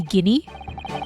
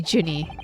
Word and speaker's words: Gina: Or would it be Guinea since it's No, it would be Jinny since it's Gina. I'm reading it as a soft G.